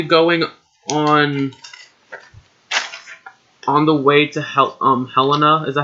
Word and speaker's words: Helena: Are we going on the way to Helena? Is that how you pronounce that city?